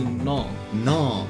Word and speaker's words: null: 那正确发音其实是 no，超怪的， no. 我觉得很怪。 no，可是这个才是对的。对 no。它不是 no 而已，它是有一个 l 在后面。